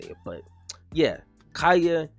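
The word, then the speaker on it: Kaya: And my wife, she told me how to say it, but yeah, Kaeya.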